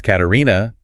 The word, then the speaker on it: Katarina: You might say something like, "My name is Katarina." And it rhymes with ballerina.